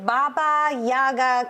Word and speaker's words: Baba Yaga: Okay, your shirts say Baba Yaga Crew.